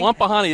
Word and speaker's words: Wapahani: Then you look at Wampanoag. Oh, I can't pronounce it. Wapahani? Wapahani, that's the one.